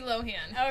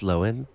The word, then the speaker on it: Lohan: of the show yes what okay to lindsay lohan okay tour girl live it's pronounced lowen oh no it doesn't she always does that